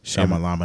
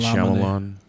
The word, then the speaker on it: Shyamalan: was great let's see I never say his name right that's why I just say Shamma Lamma night Shyamalan but Shamma Lamma in